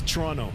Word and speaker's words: Toronto: Uh if you're a local it's Toronto. Toronto. It's like there's no second tea. It's just Toronto.